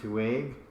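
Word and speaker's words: Tuwaiq: And it's for the Tuwaik Trophy, whatever the crud that is. What? The Tuwaik Trophy. It's a Middle Eastern Tuwaig. Okay, it's pronounced Tuwaik.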